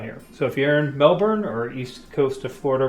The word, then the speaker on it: Melbourne: Melbourne, not Melbourne. Melbourne, I've been told it's pronounced.